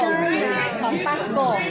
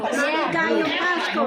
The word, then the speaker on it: Maligayang Pasko: Maligayang pasko. Maligay pasko. Maligayang pasko.